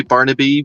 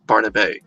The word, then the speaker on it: Barnabé: It's pronounced, and you could say Barnaby, but I'm presuming it's Barnabé. I'm not sure if there's an accented U on the end of the Barnaby there, but yeah, it's pronounced.